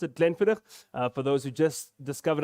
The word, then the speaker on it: Glenfiddich: heard on the presentation is exactly how you pronounce it glenfidder for those who just discovered alcohol gland footage but it's definitely then fitter um has innovation